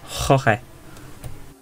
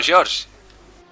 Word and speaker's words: Jorge: Very good Spanish pronunciation there. Oh, thank you. Jorge. There you go. Oh, George! Yeah.